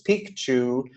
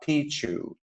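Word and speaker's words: Picchu: famous Machu piku and that is the correct pronunciation it's piku not Pichu um and so what you're going to see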